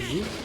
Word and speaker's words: Ryuk: Is it Ryuk? How do you say it? Ryuk.